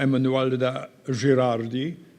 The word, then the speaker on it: Emanuela Gerardi: Uh so um madame Emanuela Gerardi is the right pronunciation of your name. Thank you. Perfect.